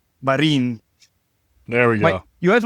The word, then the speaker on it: Marin: Marin.